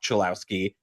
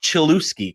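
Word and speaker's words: Cholowsky: Um but the White Sox drafted Rock Chillouski, not Chilouski, Kevin, as as our uh brilliant MLB commissioner Rob Manfred pronounced.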